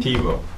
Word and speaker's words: Thibodeau: Thibodeau. Thibodeau. Two syllables. Like Tim. Just think T-E-B-O.